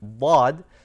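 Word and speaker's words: ضاد: you go right here you want to ensure that you are using the side of your tongue the side not the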